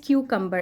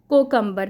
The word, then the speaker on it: cucumber: अच्छा, यहाँ पर एक इम्पॉर्टेंट आपके लिए लर्निंग है, दैट इज़ क्यूकम्बर। इसको हम लोग बचपन से सुनते हुए आए हैं पाकिस्तान में, कोकम्बर, that's not कुकम्बर, that is क्यूकम्बर।